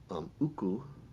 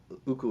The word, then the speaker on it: uku: So uku is the words for small bugs. It's spelled UKU, and lele, Lele, where the vowel is the same, lele, and in uku, those are the same vowel too, ukulele.